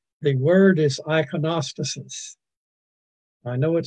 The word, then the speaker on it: iconostasis: The word is iconostasis. I know it sounds like something that Ogden Nash would have come up with. Ogden Nash said the rhinoceros is preposterous, and this is the iconostasis, which is a sanctuary